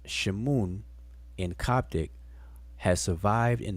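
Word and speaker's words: Shmoun: in their honor this name which was from pronounced shimoon in coptic has survived in the modern arabic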